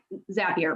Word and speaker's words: Zapier: So it's going to be super important to make sure that, Zapier, my bad. I wrote down the pronunciation and I didn't refer to my notes, so thank you.